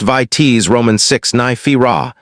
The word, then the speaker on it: Vitis vinifera: Botanically, they are Vitis vinifera, pronounced Vitis vinifera, the Old World European wine grape family.